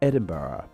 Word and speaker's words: Edinburgh: within the Scots language the Germanic Burg suffix evolved into burra the spelling of the H on the end like we see in Pittsburgh in Scotland it is best seen at the end of their capital's name Edinburgh what this ultimately means